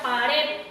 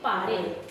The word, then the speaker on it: pared: Sí lleva tilde, y la palabra pared no lleva tilde, pero yo no puedo decir pare, tengo que decir pared.